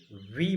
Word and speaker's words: V: ये बहुत सारे स्टूडेंट भी बोलते हैं प्रोनाउंसिएशन में, लेकिन ये सही नहीं है। इसे वी बोला जाता है, वी। इसका करेक्ट प्रोनाउंसिएशन है वी।